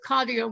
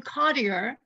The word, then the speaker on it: Cottier: over Brooklyn Heights to find two churches with Cottier windows, which we did find, and which I'm